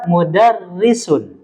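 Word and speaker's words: مدرسة: tarkik mudarisun H mudarisunah jadi jangan dibaca H mudisud tidak dibaca Takim ya karena dia yang mendominasi ini harakat kasr jadi dibaca tarkik tipis H mudarisun ini adalah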